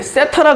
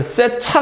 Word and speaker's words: 세타: 이렇게 읽어요 세타 그래 세타 여기 강세 있어요 이렇게 강세 강세 세타 따라 해봐 세타 세라고 읽으면 좀 약간 쳐 쳐요 그래서 이거를 세차 가 아니라 세타 그래 세타 세타 어